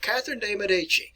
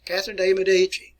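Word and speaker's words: Catherine de' Medici: and her name and you want to pronounce her name like catherine de medici catherine de medici an italian descent here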